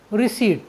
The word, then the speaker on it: receipt: यदि किसी वर्ड में पी के तुरंत बाद एन या टी आए तो हम पी का उच्चारण नहीं करते हैं। जैसे RECEIPT, रिसीट, रिसीट मीन्स होता है रसीद।